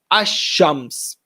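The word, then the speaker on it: الشمس: So letters that are Shamsiyya within the Arabic alphabet, if they are attached to an alif lam, the lam becomes silent. Ash-shams, for example. The letter lam in the word as-samad is also silent.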